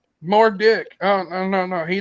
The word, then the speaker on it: Murdoch: the end of um the name Murdoch the um it's a h that sounds like a k more dick oh no no no